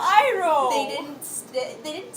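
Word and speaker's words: Iroh: right they mispronounced Katara Uncle ero man Uncle ero it's Uncle iro they didn't St they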